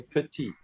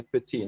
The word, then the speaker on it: petit: Like if you say petit. If you say something is small, you say petit. Now petit you will spell P-E-T-I-T. You don't pronounce the last T because there's no E.